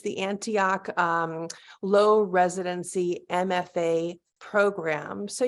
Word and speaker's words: Antioch: are a core faculty member um do I pronounce it Antioch it's the Antioch low residency MFA program so you do teach